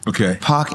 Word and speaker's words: Paak: My government name is Brandon Paak Anderson.